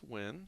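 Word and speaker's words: Nguyen: I only say the first name because I don't know how to pronounce his last name. It's Win. It's not that hard. It looks hard, but we just say win.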